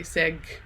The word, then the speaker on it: 색: So for me, the G at the end is really interesting because you don't say se and you don't say seg. You have to pronounce the sound. It's so interesting, like seg, but not fully go g or plosive, as I say.